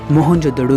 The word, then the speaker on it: मोहनजोदड़ो: आओ दोस्तों आज हम मोहनजोदड़ो की गलियों में घूमते हुए हमारी प्राचीन सभ्यता के गौरवपूर्ण अतीत को महसूस करने की कोशिश करते हैं मोहनजोदड़ो शब्द का सही उच्चारण है महन जोदड़ो और सिंधी भाषा में